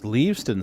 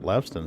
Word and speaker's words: Leaveston: So it's Leaveston Station. I've been calling it Leveston Station for years. I've been saying it wrong all this time.